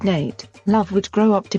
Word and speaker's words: Nat: Nat, pronounced Nate, Love would grow up to be one of the most famous black cowboys in the Old West.